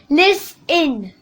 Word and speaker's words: listen: If you're saying listen, T is silent, so it's listen.